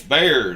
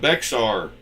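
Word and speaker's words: Bexar: It's Bear, not Beexar. It's called Bear Town in Texas. I have learned my pronunciation on that one.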